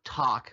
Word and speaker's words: tak: So talk, which is sort of the Irish version pronunciation of take, a cup, oh kindness